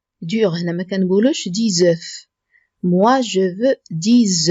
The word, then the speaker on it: œufs: Moi, je veux 10 œufs. ما كنطقوش هاد F. 10 œufs durs. هنا إلا كانت في المفرد كنقولو un œuf. Un œuf. كنطقو F ولكن في البلوريال كنقولو 10 œufs.